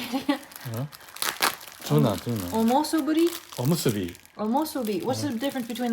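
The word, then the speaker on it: おむすび: Omosuburi. What's it? How do you say it again? Tuna. Omosuburi? Omusubi.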